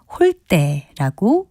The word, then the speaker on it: 홀대: 예사소리인 대로 발음을 하지만 접대와 같이 니은 이외의 받침이 올 때는 된소리인 때로 발음합니다. 따라서 소홀하게 대접하는 것은 홀대라고 발음합니다.